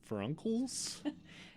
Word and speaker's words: furuncles: Bulldogs have interdigital furuncles? Interdigital furuncles. That's what that looks like, right? Yeah, it's fur and then uncles.